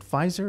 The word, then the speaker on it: Pfizer: Is it Pfizer? Is that how it's pronounced?